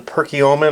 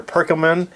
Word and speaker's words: Perkiomen: very unique style called the Perkiomen or perkumen a lot of people pronounce that differently but these again have